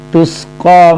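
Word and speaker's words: تُسْقَى: Tusqa min ainin aniyah, tusqa min ainin aniyah. Tusqa sin ya, bukannya shad, tus, bukan tush tapi tus.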